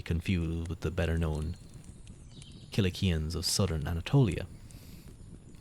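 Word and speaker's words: Cilicians: with the better known kilikians of Southern Anatolia now my pronounce be pronounced silician nowadays but we'll trust the hard K of the Greek whose foot thieves sat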